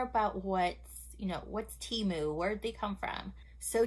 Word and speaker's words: Temu: we are going to be doing a little Teemu haul and yes I looked it up and it's pronounced timu thank you for all that also let me